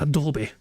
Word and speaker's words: Adobe: What is Adobe? Sorry, did I say it wrong? Adobe. Sorry, I'm used to making the E silent words, you know. Sorry, it's Adobe.